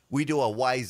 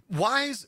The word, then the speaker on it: Wyze: wise update like what is new from wise now